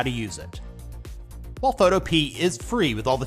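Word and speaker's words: Photopea: runner-up spot coming in at number two is photo P many people pronounce it photopia the developer says it's photo P so that's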